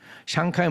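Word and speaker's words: 香港: 중국 사람들은 뭐라고 부르는지 아세요? 그 중국 발음을 잘 못하니까 영국 사람들이 홍콩 그런 거예요. 중국 발음은 샹캉입니다. 샹캉이 뭐 샹 할 때 향수 있죠, 여러분.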